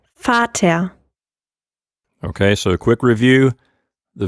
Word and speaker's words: Vater: how she pronounces it it's almost like the end of the word is like a h like an ah sound lisa would you mind